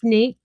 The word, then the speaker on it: Nathe: It's Nate. Nate. It's Nate, but it has an e on the end, but it's pronounced Nate, right?